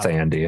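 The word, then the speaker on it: Thandie: It's pronounced Tandy, actually.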